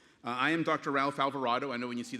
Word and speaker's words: Alvarado: get used to it they think of avocado and Desperado and different things but Alvarado is how you pronounce it and I'm proud to